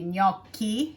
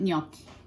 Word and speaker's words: gnocchi: And the gnocchi are called gnocchi in Italian also. It's just a little more pronunciation on the name, which would be gnocchi. In English, they call it gnocchi.